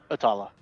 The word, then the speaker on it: Atalas: Atala. Okay. Yeah, Atala is the goddess of light. Alright. Is it Tala or Talas? Atala? Silent S. The S Wait. is silent very well.